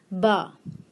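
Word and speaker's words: ب: And because Be is with A sound, it will be pronounced as Ba.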